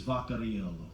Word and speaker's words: Vaccarello: my last name correctly, Vaccarello. And believe me, folks, it gets mispronounced all the time. But I just found out that the correct European pronunciation of my last name is Vaccarello.